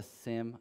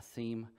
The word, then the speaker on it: SIEM: a little bit is what is a sim a seem however you want to pronounce it and so here's